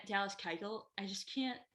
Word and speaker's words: Keuchel: But a guy like Dallas Keuchel, I just can't, maybe I'm saying his last name wrong, but nope, you're not.